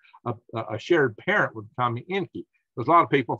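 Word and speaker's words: Encke: shared parent with Kami Enki. There's a lot of people thought Kami Enki. And no, this is not spelled like the Anunnaki Enki, okay? This is E-N-C-K-E, not E-N-K-I. But it's pronounced the same.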